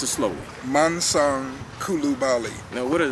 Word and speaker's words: Mansong: was a let me just say that it's pronounced manong how you pronounce it where's manang I let people get away with manang but you pronounce it slowly manang Kulu Bali now what does that mean well